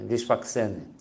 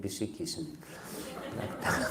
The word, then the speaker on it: Vishvaksena: This is a corruption of the name Vishvaksena. The yogi's name was Vishvaksena. In Orissa, he was affectionately called Bishikishan. It is very difficult for them to pronounce Vishvaksena.